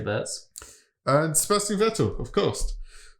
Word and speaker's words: Wurz: George has jumped on the board alongside Alexander Wurz. That's not how you say it. Wurz. Is he from Germany? Would you say Wurz? Yeah, I'd say Wurz.